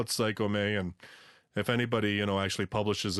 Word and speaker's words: Psycome: I was like, well, if you go by Japanese romanization, you would pronounce the E as an A on the end of it, plus comedy. It has like the E is sounded. So I was like, Psycho love comedy, so Psycome.